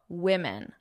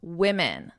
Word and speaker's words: women: Now, I want to talk about pronunciation because I hear a lot of mistakes with the pronunciation of women. Women. This is, well, I'll ask you, is this singular or plural? Singular or plural? Women. Women. Notable women. This is plural. So one woman, two women. I want you to notice my pronunciation. One woman, woman, woman. Two women, two women.